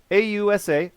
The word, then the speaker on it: AUSA: And then I was notified it's pronounced AUSA. AUSA, AUSA, like Aussie, Australia, AUSA.